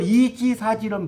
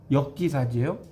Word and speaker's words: 역지사지: 이 역자는 발음이 두 가지로 익혀요. 시울 이도 되고요. 바꿀 역도 돼요. 그건 알죠? 모르면 알아서 써놓으세요. 시울 이, 바꿀 역. 여기서는 여기. 이걸 이지사지는 무식하다고 그래요. 역지사지예요.